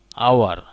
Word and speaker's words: hour: Hour. You must use N before hour because here IH is silent.